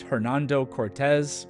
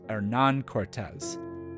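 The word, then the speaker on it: Hernán Cortés: said them for example monuma and Hernando Cortez were not their given names they were motosa and Aran Cortez also these words are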